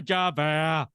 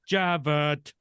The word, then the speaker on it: Javert: I am Inspector Javert. Wasn't even supposed to be him. Javert. Why would you correct yourself? You said it right the first time, Russ.